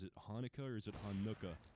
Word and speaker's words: Hanukkah: Like, what syllable are you supposed to enunciate? Is it Hanukkah or is it Hanukkah?